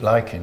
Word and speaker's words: lichen: lizard skin or or lichen or like it liking i think it's the correct pronunciation it always makes me